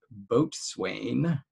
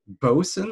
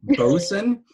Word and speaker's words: boatswain: then I came across a word that I pronounced boatswain love it yeah which I didn't know how that was actually pronounced boatswain because it was written boatswain looks like it bosun like seriously bosun you're gonna tell me it looks like boatswain